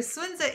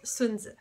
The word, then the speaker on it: Sun Tzu: It is not Sun Tzu. It is Sun Tzu.